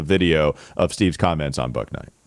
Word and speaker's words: Bouknight: of Steve's comments on book Night silent k that's just not gonna